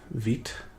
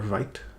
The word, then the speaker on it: Vite: although this this is built with veet or vite depending how you pronounce it so we can import